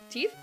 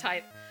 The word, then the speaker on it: tithe: teeth it's teeth right is it tithe or teeth hold on how how do this is not even a this is not even a madeup word this is a real word uh yeah for iation tithe tithe okay it's tithe um the rest of